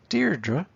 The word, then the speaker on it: Deirdre: it's an i am okay if you're a deirdre it's a trookie so uh why does any